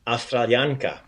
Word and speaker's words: Australijanka: So just like I'm an American woman, ja sam Amerikanka, you have that A, that feminine A sound at the end, the A. Ja sam Amerikanka, but this one we're doing ja sam Australijanka.